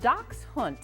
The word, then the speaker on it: Dachshund: to the 15th century pronounced doc hunt it means Badger dog